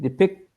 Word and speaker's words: depicted: sound sometimes this e sometimes this e is not pronounced right depicted right this and now it's ed it's id it's actually id you're saying it's never